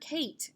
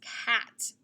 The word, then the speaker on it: cat: out the word okay this is not the word kate it's not a long a like acorn it's cat and it's also going